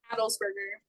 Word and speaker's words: Adelsberger: how do you say your last name adelberger adelberger and is 26 from Athens